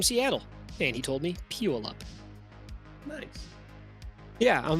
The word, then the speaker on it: Puyallup: Puyallup. I asked a dude from Seattle, and he told me Puyallup.